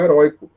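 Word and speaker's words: heroico: Não confundamos com heróico. Esse encontro de heróico é uma palavra paroxítona e não uma palavra oxítona, ok?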